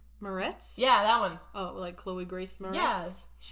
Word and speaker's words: Moretz: Morozitz. Moretz?